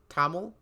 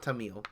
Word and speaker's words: Tamil: oh before I continue how do you properly pronounce this taml T Tamil okay not Tamil yeah I think I remembered that I think